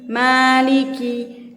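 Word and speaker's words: مالك: Maliki. Kaf juga keluar nafas dikit teman-teman. Jangan juga maliki. Jangan juga itu berlebihan. Tapi maliki, ka. Pangkal lidah sedikit ke depan ya.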